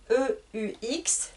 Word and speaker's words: eux: Donc j'écris E-U-X, mais je prononce E.